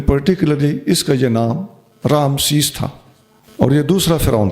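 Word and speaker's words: رعمسیس: اس فرعون کا نام اب یہ تلفظ کوئی کنفرم نہیں ہے، را عین میم سین یا سین، رامسیس۔ یہ فرعون تو مصر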